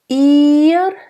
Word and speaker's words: ihr: Ihr. I, nice closed E.